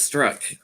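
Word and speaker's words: Strzok: very confident you know i keep calling him stroke i think it's struck peter i mispronounced his name but i think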